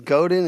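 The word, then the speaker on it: Godin: Am I pronouncing their names wrong? It's definitely Yeah, it's Goden and Synynic.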